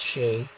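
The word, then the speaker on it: sídhe: I'm pretty sure that's pronounced she. I've been told that.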